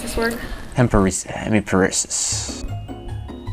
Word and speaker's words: hemiparesis: so can you try to pronounce this word temporary hemiparesis hemoparesis wait no wait hemiparesis is that one close hemiparesis split on mcgee spelling majorly i can